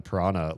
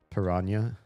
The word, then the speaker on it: piranha: It's pronounced piranha, right? Technically. I think in American English everybody just says piranha cuz they don't know how to handle that H. But I think the NH in um Portuguese is piranha.